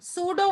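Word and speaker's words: pseudo: हो यो यो Honey Sudan field ओं थे सूडो P silent होता है सूडो फील्ड कॉन्फ़िगरेशन होगी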